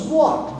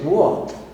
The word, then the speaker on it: walk: So when you say walk, you pronounce walk. You don't pronounce L, right? You say walk, right?